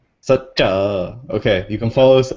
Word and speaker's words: Saccha: on Twitter report dude it's F not even spelled like that in English though it's like sucha sucha okay you can follow